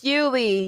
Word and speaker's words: Julie: unless someone told you, because it is written like Julie, but she is Serbian, but she was born in America, I think. Nice. And if I'm not mistaken, either or. Anyway, if she wasn't born here, she definitely came really young. So Yuli it is, pronounced like a Y.